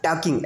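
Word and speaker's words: talking: चलिए आप बताइए, this is what, mister, mister, this is what, mister, this, Mrs, this, टॉकिंग, है ना, टॉकिंग, एल साइलेंट रहेगा, दिस इज बैड, क्या होगा, बैड, है ना, ये क्या है, Everywhere.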